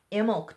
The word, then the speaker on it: Imbolc: Imbolc just passed. Google the Feast of Imbolc. It's spelled I-M-B-O-L-C. The B is silent.